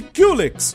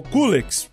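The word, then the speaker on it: Culex: E então aparece Kulex, ou Kulex, você escolhe a pronúncia, que viajou por diversas dimensões até ficar preso ali no mundo do Mario.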